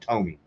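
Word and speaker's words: Tomy: I kept saying Tommy last night, and that was pissing me off when I watched that. It's pronounced Tommy.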